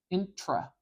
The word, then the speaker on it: intro: English sound intra intra you'll notice I'm not saying introduction I'm not saying it like an O it spelled like an O I'm not saying know intra and put awah there